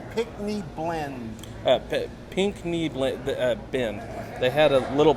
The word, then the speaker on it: Pickney: They had a little placard to help you learn how to pronounce it, but it's pink like the color, and then knee like the body part, but it's spelt all funny.